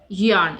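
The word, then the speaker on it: yearn: है यन right it's यन इसमें are silent होगा तो इसका प्रोनंसिएशन होगा यन नेक्स्ट है खिसिया खिसिया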